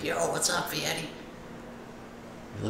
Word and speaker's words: Fieri: I'm sure you guys all know who Guy Fieri is. It's actually not pronounced Fieri, it's Fieri.